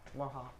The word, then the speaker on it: Morejon: How do you pronounce his last name? Morejon.